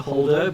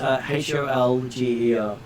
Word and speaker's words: Holger: He's very close to Holder, but he's H-O-L-G-E-R. Holger.